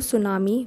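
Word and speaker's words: tsunami: हैं financial help to सुनामी victims ठीक है यह सुनामी है टी साइलेंट होता है याद है ना सो फाइनेंशियल हेल्प टू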